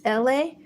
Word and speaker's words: Elay: All right, my name is Elay, pronounced like LA like the city.